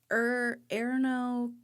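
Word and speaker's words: Ernő: Erno. Erno Rubik. Erno? Yes. I got that one. Is it Arno? Or how do you spell it? ERNO with smatterings of dots up some.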